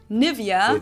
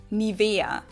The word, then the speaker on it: Nivea: of products nowadays again i find the english pronunciation pretty funny here english native speakers usually say nivea nivea in german we say nivea nibiru so the emphasis is about to be